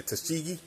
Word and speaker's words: Tuskegee: Tuskegee? Yeah, Tuskegee.